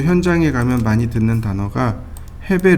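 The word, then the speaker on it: 平米: 해배, 루베라는 단어가 나와요. 해배, 루베. 이거 일본식 발음입니다. 헤이베, 류베이. 헤이베, 류베이. 이렇게요.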